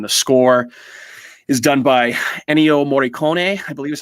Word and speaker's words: Ennio Morricone: And the score is done by Ennio Morricone, I believe is how you pronounce his name.